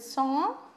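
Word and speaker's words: sans: do you understand now what i mean meant with song s a n s s is silent and at the age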